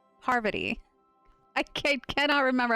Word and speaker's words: Parvati: We'll make a dang good engineer out of you, Pavarti. No. Parvati.